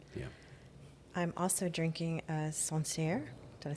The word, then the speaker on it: Sancerre: Yeah, I'm also drinking a Sancerre.